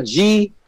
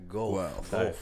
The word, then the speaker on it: Guelph: It's like, sounds like you're puking. It's like, wow. Well, you know, it's like Ralph. It's spelled a G-U-E-L-P-H. Guelph.